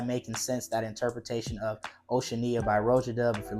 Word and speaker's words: Oceania: of Road does Oceania I think that's how you say it I've been calling it oceanana all this time but I think it's Oceania is how you pronounce it this is a